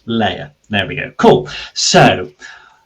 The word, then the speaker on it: Leia: you pronounce your name I was pronouncing it Celia oh no I actually did check this with you when we were um typing about it l-e-i-a sir layer there we go cool